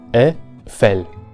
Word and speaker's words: Eiffel: En cualquier caso, nunca como I. Así que tenemos, siguiendo una pronunciación ortodoxa, Eiffel.